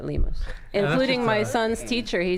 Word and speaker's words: Lemus: Well, that is the way it's supposed to be pronounced, but everybody I've met whose name is Lemus pronounces it Lemus, including my son's teacher.